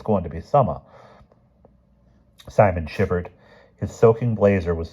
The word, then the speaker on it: Simon: "Simon Bolivar Quentin Farranier. We have the same number of names. I pronounced Simon the English way instead of the Spanish way."